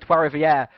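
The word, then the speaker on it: Trois-Rivières: today we are here at the circuit of Tua rivieres rivieres as everyone like to call it TW Rivier is how you pronoun supposed to pronounce it but it varies amongst the drivers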